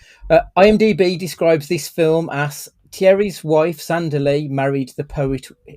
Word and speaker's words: Thierry: Right, his name is Thierry, as in Henri, but they pronounce it Thierry almost. Yeah. Like, I don't know if it's because it's not proper French, it's American French. So that pissed me off all the way through that they weren't pronouncing it properly.